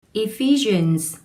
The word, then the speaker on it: Ephesians: Ephesians 5:21 Submit to one another out of reverence for Christ. 여러분 안녕하세요. 지와이쌤입니다. 이번 시간에 여러분들과 공부해 볼 내용은 Ephesians에 있는 내용입니다. 에베소서이죠. 자, 발음 한번 해보실게요. Ephesians 이렇게 됩니다.